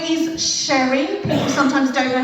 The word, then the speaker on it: Sherry: So yeah, my name is Sherry. People sometimes don't know how to spell that. It's like the drink, S-H-E-R-R-Y.